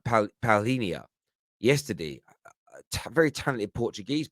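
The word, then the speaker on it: Palhinha: got the zhao um i think his name is pronounced uh paulinia yesterday a very talented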